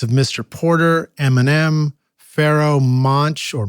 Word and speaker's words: Monch: Porter, Eminem, Pharoahe Monch, or Monk. How do you say Pharoahe it? Monch. Pharoahe Monch.